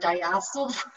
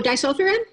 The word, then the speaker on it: disulfiram: treating mold and babesia and taking, I cannot pronounce this word, diacetyl, the disulfiram, Oh, disulfiram?